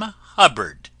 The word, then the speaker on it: Hubbard: this is wonderful Dame Hubbard named that always rhymes with cupboard ever going out to